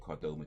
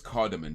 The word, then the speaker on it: cardamom: apparently cardoma tea actually let me just make sure it is called Cordova tea because I might be saying it wrong yeah I'm saying it wrong so it's cardamom tea excuse me it's called cardamante and apparently cardamom tea